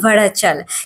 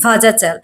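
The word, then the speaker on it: വാഴച്ചാൽ: এখানকার স্থানীয় লোকেদের ভাষায় এই ওয়াটারফলসের নাম ভড়াচাল। কিন্তু আমরা মানে যারা একঝলক চট করে দেখে উচ্চারণ করছি ভাজাচাল।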